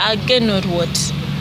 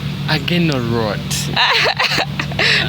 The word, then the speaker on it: Agenorwot: Stop mispronouncing my name. Oh. Agenorwot. Agenorwot. Not rot. Rot. Rot. The W. No, don't say rot.